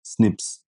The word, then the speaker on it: SNPs: These are called SNPs pronounced as snips.